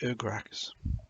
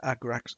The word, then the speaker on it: Agrax: put a little bit of um earth the ergrax oh i can never pronounce that word what's the word yeah agrax earthshade shade over the top of it it